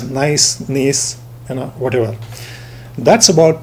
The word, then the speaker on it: gneiss: It's called the peninsular gneiss, G-N-E-I-S-S, pronounced as nice, gneiss, whatever.